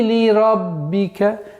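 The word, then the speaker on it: لِرَبِّكَ: Фасалли ли раббика. Ли ра. Ра твердый звук. Ба с удвоением. Ли раббика. Ли раббика.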